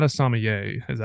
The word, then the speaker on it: sommelier: Sommelier. Yeah, but you'll say the ER. It's like sommelier.